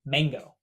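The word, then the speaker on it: 忙: Pronounced the exact same as mango.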